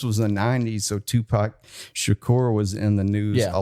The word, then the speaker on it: Shakur: like Dennis it's Tupac Shakur and he's like no it looks like Tupac shacker and I was like no Dennis it's Tupac Shakur he's like y trying to